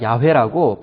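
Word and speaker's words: 야훼: 새 화우 헤이 고 영어 알파벳으로 는 yahweh 입니다 보토 우리가 야외 라고 발음을 합니다 하나님의 이름을 기록한 시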